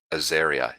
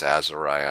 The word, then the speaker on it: Azariah: test if you actually do uh people keep mispronouncing it aeria it isn't it's Azariah and you can actually look it up but